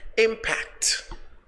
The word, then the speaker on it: impact: Now let's go to number 10, which is impact. Impact. The stress is on the first syllable.